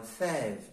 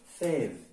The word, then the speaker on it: fève: avons le mot fève tout dépend de notre prononciation est-ce que fève ou bien faible alors c'est fait fève voilà son quoi accent grave quand est-ce qu'on met l'action grave lorsque la prononciation est allongée il s'agit de du